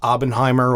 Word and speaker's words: Oppenheimer: dude, like that and Oppenheimer coming out in the same weekend. That's cinema right there. I love every time Oppenheimer, or however you say it.